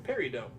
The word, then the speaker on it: peridot: A peridot. They're green little gemstones. They're semi-precious. Oh, peridot. Peridot. There we go. T is silent. Tomato, tomato. It's French. Peridot.